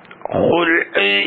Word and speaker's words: خلع: ബിളമ്മിൽ ഖാഇ, ഖുൽഉ് എന്നത് ഖാഇന് ലൊമ്മ കൊണ്ടാണ് ഉച്ചാരണം. മിനൽ ഖലഇ, ഖാഇന് ഫത്ഹ കൊണ്ട് ബിഫത്ഹ ആണ് തന്നെ.